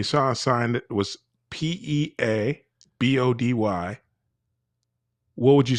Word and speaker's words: Peabody: that and you saw a sign that was P E A B O D Y, what would you say that the name of the town was? Oh, in Well, I would say Peabody.